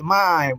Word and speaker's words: mime: The actual way to pronounce that word is mime, not mime, mime.